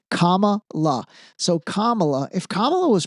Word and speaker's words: Kamala: If think about if Kamla I'm sorry, Camala I God man her name is tough to remember how to pronounce properly. Kamala.